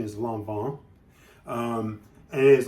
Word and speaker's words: Lanvin: Most people will say it's Lanvin because it's just an easier way of saying it, but the actual pronunciation is Lanvin.